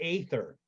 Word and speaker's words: aether: So is it pronounced ether or aether? Either or. I've heard. All right, so for reference, I like the long a sound because it differentiates it from the ether that you use to start your car.